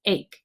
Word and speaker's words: ache: You might notice a silent E at the end. That makes the A say its name. This chunk says ache.